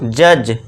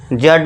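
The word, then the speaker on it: judge: डी को silent कर देंगे। हम इसको बुलाएंगे नहीं। उसे क्या बोलेंगे हम? जज। जड नहीं जज।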